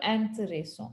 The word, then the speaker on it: intéressants: Same like un livre intéressant, des livres intéressants, because we never pronounce the S.